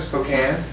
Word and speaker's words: Spokane: it Spokane? Yeah. But you know, the only reason people know about that city is because it rhymes with cocaine.